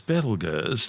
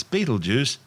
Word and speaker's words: Betelgeuse: Currently known as Betelgeuse, and commonly referred to by the public as Betelgeuse, don't say it 3 times, the names are both tortured mispronunciations of the original Arabic name Ibtal-Yawza, meaning the hand